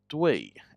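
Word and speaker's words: 兑: Last one is pronounced due and it has to do with a lake.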